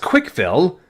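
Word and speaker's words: CWCville: It's supposed to be pronounced Quickville.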